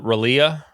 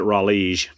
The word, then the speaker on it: Raleigh: Or was it Terrell Owens who calls it Ralea? What was up with that? He's just an idiot. Pronounce it Raleigh.